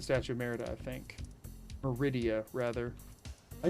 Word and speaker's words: Meridia: I just say Merida because that's what my brain says. No, I know it's Meridia. She never says her own freaking name. I just literally brain fart out and forget a syllable.